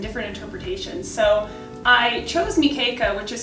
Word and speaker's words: Mekeka: different versions and different interpretations so i chose nikeica which is spelled m-e-k-e-k-a because um about 10 years ago